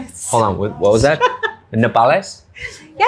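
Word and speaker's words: nopales: Nepales. You're Mexican. Can you say it properly? It's corn tortillas made with npales. With What was that? Hold on. What was that? Napales.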